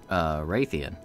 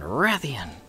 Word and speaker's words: Rathian: So for like 15 years, I've pronounced it, you know, Rathalos and Rathian. And then they're like, it's Rathalos and Rathian. No. And I was just kind of like, huh? I've been putting the emphasis on the wrong syllable all these years.